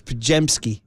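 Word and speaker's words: Podziemski: little tip to Dudley he pronounced his name pronounce his name wrong it's pajemski he called him well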